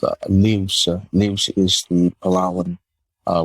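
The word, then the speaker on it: lius: we created a a non-profit uh called uh leaves news is the palawan uh word for coconut and it's spelled l-i-u-s and so we actually created an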